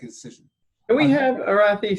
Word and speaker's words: Arathi: they can make a decision can we have arathi say her name just so donna can record